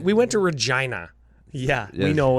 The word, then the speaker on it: Regina: roofs I was gonna say the land of rhymes with fun that's a Deadpool joke oh yeah that's right we went to Regina yeah you know it's called Regina read John